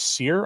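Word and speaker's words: Sire: I'll actually probably do it tomorrow he actually pronounced his name as seir I heard him say it himself so take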